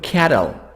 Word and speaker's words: cattle: we hear the word cattle cattle cattle see soft d british cattle cattle get cattle